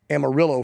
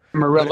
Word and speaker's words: Amarillo: that grew up in, I think you pronounce it this way, I'm not a Texan, but the guy that grew up in Amarillo for you white folk. Amarillo. If you're from Texas. Amarillo.